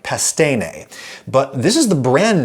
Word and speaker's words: Pastene: Anyway, they say pastine. Hardly surprising that they go with an Americanized pronunciation.